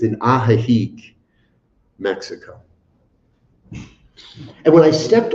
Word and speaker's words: Ajijic: It's in Ajijic. I just put an extra syllable in there. Sorry, my friends. I put an extra syllable. It's in Ajijic, Mexico.